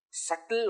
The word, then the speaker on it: subtle: Sukshma sharira, subtle object. Subtle, S-U-B-T-L-E, but that B is silent.